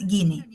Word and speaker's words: guinea: worth 20 21 Shillings the pronunciation is Guinea Guinea so what she do she